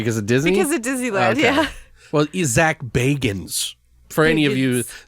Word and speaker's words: Zak Bagans: say man sir cuz a Disney well is zak bagans for any of you sack Baggins fans out there who gave me a [